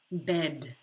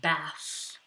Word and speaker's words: bed: A b, b, bed, bed. Please do not confuse it with a bath. Bed, bath. Bet, bad.